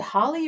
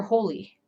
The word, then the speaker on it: Holi: on here boom nice diwali and is it holly or holy i i've heard of diwali i think i'm